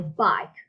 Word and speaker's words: bike: I go to school on my bike. Look at the word bike. Bike, it's a word that we have a vowel, a silent vowel, a silent vowel, the E, okay?